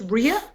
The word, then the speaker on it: Rea: So he pronounces it Rea, I pronounce it Ray.